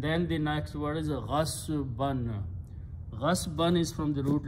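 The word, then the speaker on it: غَصْبًا: And whenever you have two fathas there, you add an alif in there and pronounce ghasban. When you stop, you pronounce ghasba by force.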